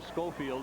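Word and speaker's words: Sculfield: Pronounces his name Schofield, even though it's spelled S-C-U-L-F-I-E-L-D.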